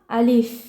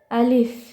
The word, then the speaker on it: আলিফ: আরবি হরফ মুখস্ত করতে হবে এবং কোনটার কি উচ্চারণ তা আমি আপনাদের দেখিয়ে দেব দেখুন এক দাগ আলা এটাকে আমরা কি বলব আলিফ আলিফ আলিফ বাতাস বের হবে মুখ থেকে আলিফ এই যে